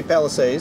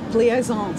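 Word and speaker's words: Plaisance: on the main Midway Palisades Yeah right did I say that correctly plie zones see I knew I wasn't gonna say it right that's why I asked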